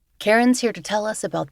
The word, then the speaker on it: Cairen: My name is Karen and just to provide the spelling of my first name because that confuses a lot of people.